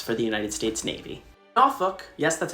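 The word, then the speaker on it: Norfolk: tons of ships for the United States Navy nuk that's how it's pronounced is the only Virginia City with a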